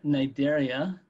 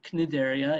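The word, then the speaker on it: Cnidaria: what we call uh nigeria or knidderia if you pronounce the sea and there are all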